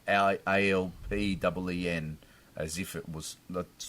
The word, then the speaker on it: Alpine: So, well, apparently the Alpine supercar is pronounced that way. It's like ALPEEN, as if it was.